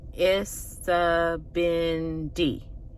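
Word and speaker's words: Isibindi: It has 4 syllables. Isabindi.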